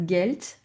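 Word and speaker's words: Geld: Attention H expiré house he das vasa l'eau das gelt l'argent vous entendez le D à la fin on le prononce t he does guelt l'argent auto la voiture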